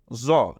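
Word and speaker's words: ظاء: তো মনে রাখতে হবে এই জ এটা মোটা হবে আর জাল সেটা চিকন হবে এরপরে আবার আমরা আরো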